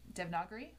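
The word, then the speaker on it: Devanagari: to do uh to figure out more d dev nagari that's how you pronounce it um do that there's another girl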